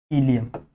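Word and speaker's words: ileum: लोग क्या बोलते हैं, इलियम। सही है, इलियम, ऐसा अच्छे से लिखो। समझा, इलम इलियम जैसा भी आप लोग प्रोनाउंस करना चाहो, ठीक है।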